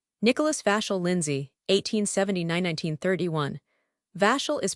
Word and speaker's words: Vachel: Vashel is pronounced vchull that is it rhymes with Russell.